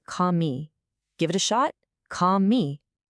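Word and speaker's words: քամի: The word for wind is kami. That's pronounced kami.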